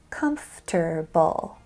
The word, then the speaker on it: comfortable: C-U-M-F, comf, T-E-R, ter, B-U-L-L, bull, comfortable, right? Wrong. That's how it sounds, but that's not how it's spelled.